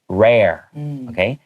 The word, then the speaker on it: rare: to the word rare some people have a little bit of trouble pronouncing that they don't get the air sound out so the best thing to do is first practice the pronunciation air like 空氣 and then just add r in front of it rare and then the second